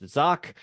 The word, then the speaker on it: Zach: So you can find me on LinkedIn and Facebook if you just search Zock, and it's Zach. It kind of sounds like Zach, but it's pronounced Zock.